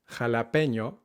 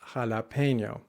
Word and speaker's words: jalapeño: This word is pronounced jalapeño, not jalapeno.